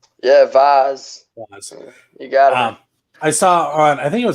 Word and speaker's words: V*A*S*E: with me tonight is christian from the band voz did i pronounce that correctly yeah vaz you got it i saw on i think